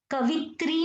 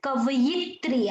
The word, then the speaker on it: कवयित्री: कवित्री नहीं आता है, कवयित्री आता है। आई रिपीट, कवयित्री, य पे मात्रा है।